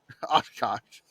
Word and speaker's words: Oshkosh: Oshkosh. I would like... Yes, as in bagosh.